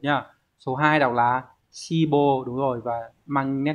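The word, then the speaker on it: 志望: ta sẽ loại được 1 nhá số hai đọc là sibo đúng rồi và mang nét nghĩa là ứng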